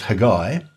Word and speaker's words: Haggai: and start off with haggai uh maybe give us a little bit of the background on haggai like a haggai which in hebrew is pronounced hagai so not much change